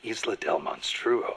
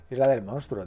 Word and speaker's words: Isla del Monstruo: He even said he once went to a place called Isla del Monstruo. A hunter on Isla del Monstruo.